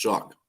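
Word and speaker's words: Shough: His name is pronounced suck. Many I don't even know how the hell you pronounce that name shuck when it doesn't even sound like that.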